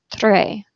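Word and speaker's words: très: means hey or hi if you have an S at the end of the word you do not pronounce the S you see that in the French word for very which is Tre okay we don't pronounce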